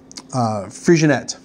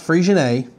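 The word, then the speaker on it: Freixenet: that means um uh frigionette uh and not frisian a as most people say it's kinda like you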